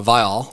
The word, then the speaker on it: Viall: top this is awkward it's okay how to pronounce Nick vial yeah uh vile I've said it wrong the whole show uh